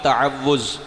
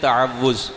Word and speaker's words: تعوذ: اعوذ باللہ من الشیطان الرجیم، اس کو کہتے ہیں تعوذ۔ کیا کہتے ہیں بولیں؟ بعض اس کا تلفظ یوں کرتے ہیں تعوذ، تعوذ نہیں تعوذ، اعوذ باللہ من الشیطان الرجیم۔ اس کا مطلب پتہ ہے؟